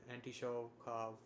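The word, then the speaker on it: Anitschkow: or anti anitosha cells i've never read this word out loud so right now i realize i've been saying it wrong in my head but anti-show cough cells anti-shock cells right so these are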